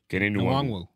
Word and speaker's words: Kene Nwangwu: How do you pronounce it? Kenny Nwangu. Nwang Kene Nwangwu.